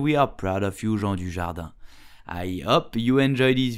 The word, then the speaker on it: Jean Dujardin: So, how do you pronounce his name correctly in French? You will say Jean Dujardin.